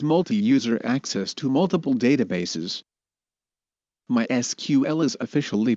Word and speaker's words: MySQL: server it provides multi-user access to multiple databases mysql is officially pronounced as mysql but is often also pronounced as my sequel the word my in the name comes from